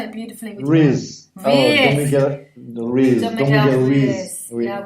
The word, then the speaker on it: Ruiz: Ruiz? Because you said it beautifully. Ruiz.